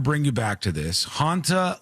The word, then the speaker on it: Hantavirus: Hanta, like haunted, all right?